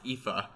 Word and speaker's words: Aoife: yeah I thought that it's a real name that's pronounced Aoife oh my gosh like oh